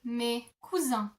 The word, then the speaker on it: mes cousins: So in English you would say my cousins, in French you would say mes cousins.